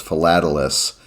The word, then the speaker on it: philatelist: stamp collectors called themselves philatelous yeah and my pronunciation guide it's like it's like falafel yeah it says like